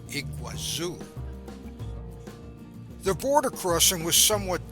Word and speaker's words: Iguazú: to Brazil's par nasel iguasu slightly different pronunciation and Portuguese than the Spanish Iguazu the border crossing was